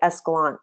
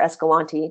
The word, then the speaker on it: Escalante: So places like Escalante, or Escalante, depending on who you ask how to pronounce it, in Utah, or Brigham